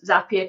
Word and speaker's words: Zapier: get my head right in saying Zapier, not Zapier. I've been saying it wrong for so many years.